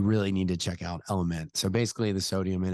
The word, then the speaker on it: LMNT: taking to Mexico um it's spelled lmnt uh pronounced element but it is an